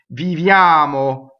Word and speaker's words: viviamo: Viviamo, right?